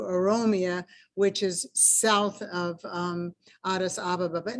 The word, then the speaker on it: Addis Ababa: And just so you know, in the Ethiopian language, there's no accents on any syllables, so everything is equalized, Addis Ababa, Addis Ababa.